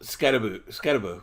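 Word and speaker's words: Skattebo: Scatterbo, yeah.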